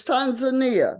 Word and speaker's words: Tanzania: is it Tanzania or is it Tanzania it's Tanzania that's the correct pronunciation Tanzania okay all right the reason why